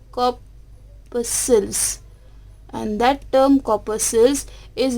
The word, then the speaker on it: corpuscles: How to pronounce this term corpuscles? That is, we can write K-A-W, that is P-U-H, corpuscles, and that term corpuscles is represent the number of tiny particles.